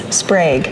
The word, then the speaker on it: Sprague: How do you pronounce the name of this library? Okay, it's Sprag. That's what I thought. It's named after a former head librarian, Joanna Sprag.